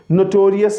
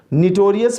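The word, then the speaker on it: notorious: तो टी जो है ना उसे आपने इस तरीके से देना है कि वो ओ साउंड बने, नोटोरियस, ओ साउंड।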